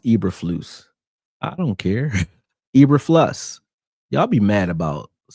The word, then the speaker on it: Eberflus: His name pronounced Eberflus.